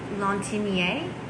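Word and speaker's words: Lantignié: people think that uh this one's called lontinier that's how you say it a lot of people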